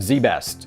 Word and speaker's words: ZZZZ Best: Or, if you're American, ZZZZ Best. Pronounced Z Best, apparently.